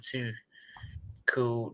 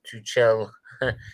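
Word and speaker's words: Tuchel: uh stephen barger boys it's pronounced picture too cool not too chill he's german not french yeah my bad two two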